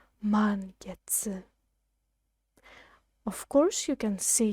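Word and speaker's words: 満月: is the word for the full moon it's pronounced man gets man gets of course you can see here but we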